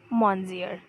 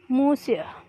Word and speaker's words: Monsieur: Like अभी हम देखें, अगर हम नेचुरली इसे देखें एज अ स्पेलिंग जैसे वो लिखा हुआ है तो हम उसे क्या पढ़ेंगे? मॉन्जियर, राइट. लेकिन actually it इज़ नॉट मॉन्जियर, इट्स मूसियर.